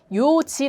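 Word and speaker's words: 四時: 하지만 때로 는 더 부드러운 발음 을 위해 마지막 자음 을 생략 하기 도 합니다 . 이것 은 그러한 사례 중 하나 입니다 . 그러니까 " 요지 " 는 따로 외워야 해 요 .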